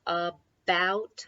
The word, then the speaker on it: about: out so we have about again an important two syllable word when a word begins with a not every time but often that a sounds like a short you a bout so that is the